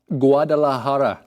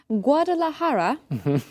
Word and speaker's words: Guadalajara: Guadalajara. Guadalajara. Guadalajara. So when you see that J in Spanish words, that has an H sound.